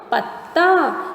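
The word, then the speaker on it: पत्ता: While pronunciating the joint letter, the sound of the first letter is stressed.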